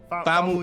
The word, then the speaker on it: Famuyiwa: I know I butchered Wait, it. Is it Fumiya? But it might be. No, Let's just- Famuyiwa.